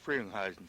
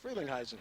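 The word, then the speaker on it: Frelinghuysen: Congressman Rodney, it's pronounced Freilingheisen, right? That is, I pronounce it Freilingheisen. Freilingheisen.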